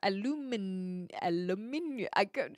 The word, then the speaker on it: aluminium: Yeah, so I would say aluminium. And I think that's British English, but now I'm getting confused. Yeah, because the Americans say aluminum. It's just different emphasis.